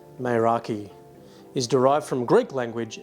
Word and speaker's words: Meraki: Now, according to Google, the word Meraki, pronounced Meraki, is derived from Greek language and literally means